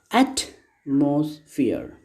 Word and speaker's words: atmosphere: There are three syllables. And here the first syllable has been stressed. Atmosphere.